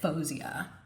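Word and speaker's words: Fousheé: The artist has a name and I'm triflin, but anyway, I was just looking up a video and I think she pronounces it Fosia. That's her name.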